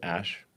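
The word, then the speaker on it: Æ: It's just X, the letter X, and then the AE is pronounced Ash.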